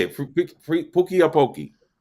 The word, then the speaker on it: Big Pokey: Pookie or pokey? Big Pokey.